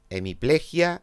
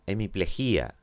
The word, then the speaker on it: hemiplejia: co un austriaco maníaco o maníaco ósmosis ósmosis hemiplejia hemiplejía vídeo vídeo adecua adecúa palia valía las dos